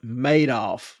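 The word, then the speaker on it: Madoff: pronounced that name wrong it said like made off which seems like it was a clue maybe a little clue Bernie made off with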